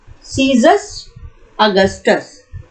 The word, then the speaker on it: Caesar Augustus: The name, but we say Caesar Augustus. So listen it carefully, the pronunciation.